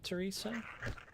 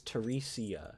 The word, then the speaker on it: Teresia: But if I ever like if I blow up Teresa, I just noticed your name is Teresia.